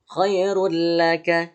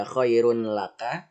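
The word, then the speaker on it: خير لك: Khairul laka ya. Khairul laka. Dia hanya dimasukkan aja. Yang seharusnya dibaca khairun laka ya, khairun laka.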